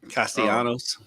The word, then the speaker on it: Castellanos: I think the L is silent. Castellanos.